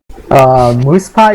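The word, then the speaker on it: Moosepie: So how do you pronounce your name? Moosepi or Moose Pie, as I was pronouncing it earlier on in the cast? Moose Pie is correct, but I don't really care, honestly.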